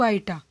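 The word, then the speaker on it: iota: तो हमें एक इक्वेशन निकालनी है जिसका रूट क्या है 3 माइनस 2 आइटा, और आइटा की वैल्यू क्या होती है, इसको आइटा प्रोनाउंस करते हैं, और इसकी वैल्यू क्या होती है रूट -1।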